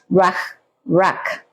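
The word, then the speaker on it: רוח: En la palabra hebrea es ruach, ¿sí? Ruach, así se pronuncia, ¿sí? En hebreo.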